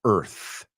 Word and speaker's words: Earth: Y esta quiero que pronunciéis conmigo la palabra Earth. Earth. Quiero que cuando imagináis esta palabra, que lo imaginéis sin la A.